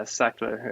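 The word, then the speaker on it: Sachtler: with a fluid head, and I can never pronounce this vendor's name, but it's Sackler. Sean, is that right? Yeah, Sackler.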